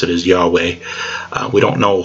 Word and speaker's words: Yahweh: But in the modern we pronounce it Yahweh usually.